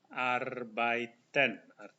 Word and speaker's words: arbeiten: EI dibaca I, arbeiten.